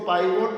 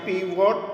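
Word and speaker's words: pivot: पीवॉट table, इसके 2 उच्चारण हैं। इसको पाइवोट टेबल भी कहते हैं, लेकिन सही ढंग से बोलेंगे तो इसका नाम है पीवॉट टेबल।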